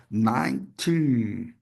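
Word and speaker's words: nineteen: E aqui é a tendência natural das pessoas falar nitin, dando três sílabas. Ninten, não. Nting. 19. 19. 19. Duas sílabas, hein? Não é, não são três sílabas.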